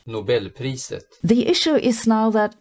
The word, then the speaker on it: Nobelpriset: A Nobel Prize was awarded for this discovery in 2011, and by the way, here's how they pronounce Nobel Prize in Swedish. Nobelpriset.